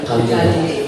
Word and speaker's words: Kalijodo: Jadi cara bacanya Kalijodo.